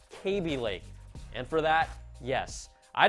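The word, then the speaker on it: Kaby Lake: you pointed out that I continue to call Intel's processor line cab Lake instead of pronouncing it correctly as KB Lake and for that yes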